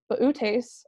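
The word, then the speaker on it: Boötes: the brightest star in the constellation Bootes or booty is however you prefer to pronounce it the herdsman so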